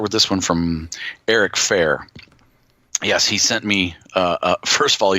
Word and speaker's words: Fair: time he emailed us, I pronounced it Farrar, but it's actually Fair.